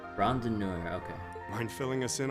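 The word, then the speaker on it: Randonneur: Oh, okay, I think I mispronounced his last name a little bit earlier. Rondinor, okay.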